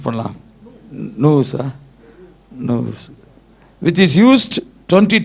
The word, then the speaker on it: nous: எப்படி ப்ரொனவுன்ஸ் பண்ணலாம்? நூஸா?